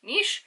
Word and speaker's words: Nis: Also, a fun fact, because I'm now overly brimming with Scottish fun facts, is that Loch Ness and Inverness, actually in the traditional Gaelic, is pronounced Nish, so I have named him Nishi.